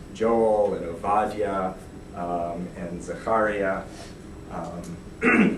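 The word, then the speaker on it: זכריה: and aadia um and Zakaria um I use Hebrew pronunciations for their names so they might not quite sound zakar you've probably heard Zachariah um me you've probably heard Micah um so um so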